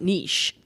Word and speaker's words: niche: And also, this is a lot of like pushback from someone who now says niche.